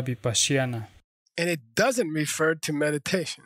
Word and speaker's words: Vipashyana: pasión en primer lugar no se pronuncia vipassana adaptar corrupción ardor de pasión eso es una corrupción de la palabra bip asiana electas de mayfair timberlake